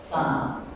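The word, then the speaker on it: Zahn: Las líneas de SAM. Miren cómo se escribe.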